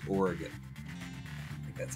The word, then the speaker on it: Oregon: But because it's that, I'm pretty sure that the right way to say it is Oregon.